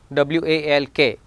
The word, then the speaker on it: walk: W-A-L-K, L is here silent, walk not walk, no, file.